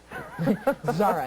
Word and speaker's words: Zara: Zara. I asked about the pronunciation, so I know that's correct.